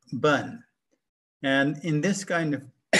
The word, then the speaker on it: 本: In fact, it's pronounced bun and it means a tree root.